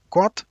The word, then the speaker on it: Qwant: Donc il y a DuckDuckGo, j'ai pas besoin de vous le dire, mais l'autre il s'écrit bizarrement là. Il s'écrit QWANT, Quant.